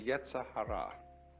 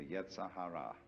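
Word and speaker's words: yetzer hara: In Jewish theology, this is called the yetzahara. Yee ze r h a r a. The yetzahara, the element of irreducible rascality which was created by God because God has one too.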